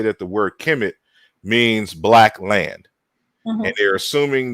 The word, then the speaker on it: Kemet: in the Egyptian language so when we're saying Kim it that's how they would have pronounced it in the middle and Old Kingdom